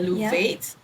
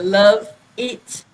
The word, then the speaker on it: Luvatte: Lou vate but uh after I tested the name with friends and different Generations I found that the the younger generation will actually pronounce luuv first and then uh it will sound like uh love itat like eat or eat and then when you pronounce it very fast it sounds like you love it and um that's that's